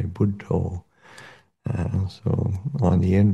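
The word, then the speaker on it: Buddho: quite neatly um because they pronounce the word Buddha in a slightly different way buddo and so on the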